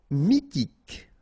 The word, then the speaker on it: mythique: Mythique. Remember, Q-U at the end, K, okay, and then Y is pronounced like I. Mi, H is not pronounced.